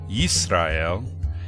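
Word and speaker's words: ישראל: The first letter is the letter Yud, representing the Y sound. The letter Sin for the S sound, then resh for R, aleph, which is silent, and the lamed for the L.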